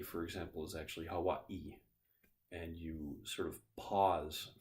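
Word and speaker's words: Hawaiʻi: which is a little it looks like an apostrophe but it's a glottal stop so the name Hawaii for example is actually Hawaii and you sort of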